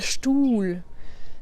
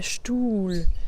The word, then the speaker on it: Stuhl: Donc tu vois, la voyelle qui est juste avant le H est plus longue. Par contre, le H n'est pas prononcé comme un H. Donc là, c'est un H muet.